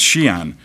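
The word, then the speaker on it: Xi'an: Chinese it's called it's it's pronounced Shian drum Tower and created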